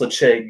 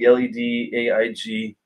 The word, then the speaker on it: Ledaig: It's pronounced Ledaig, Ledaig.